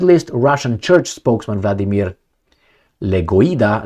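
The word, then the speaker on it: Legoyda: Russian Church spokesman Vladimir legoa Le Goa not the necessar that's the way you pronounce it labeled the move and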